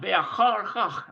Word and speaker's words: ואחר כך: It's kind of a tough one to pronounce. We need a vet. Vav rather. And that is a Haf Sofit. ואחר כך. Yeah, ve'achar chach.